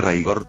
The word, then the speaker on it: Rigor: Dragon Ball New Age, con una entonación algo diferente pronunciándose Raigor, aunque al final terminan siendo el mismo personaje.